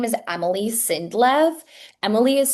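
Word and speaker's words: Emili Sindlev: Okay, so her name is Emily Sindlov. Emily is spelled E M I L I.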